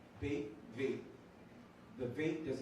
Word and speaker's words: Bet: It has the sound of B. Of the English B. B. But then you have bait that looks just like it. So this is the B sound, and this would be the V sound.